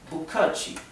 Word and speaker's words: 不客气: Y otra palabra muy comúnmente usada es bukachi. Bukachi es de nada. Son 3 sílabas. La primera sílaba significa no, bu, ¿sí?